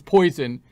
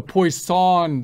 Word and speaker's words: Poisson: it's not going to it's not like it's poison and we're not poison poisoning you here it's a poisson distribution the emphasis on the second bit there so similar kind